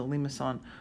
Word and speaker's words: limaçon: If the numbers do not match, you're going to get a limaçon. Limaçon. And I wrote it up there phonetically for you, so it has a little thing on the C.